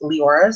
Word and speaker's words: Leora: So for Viscount's Proposal, we are following Leora as Lindsay from Books for Christian Girls actually asked Melanie Dickerson how to pronounce that, and it is Leora.